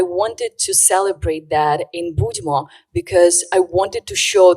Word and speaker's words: Budmo: So pronounce it for us so that everybody can hear this. ANNA VOLOSHYNA: The name is "Budmo!"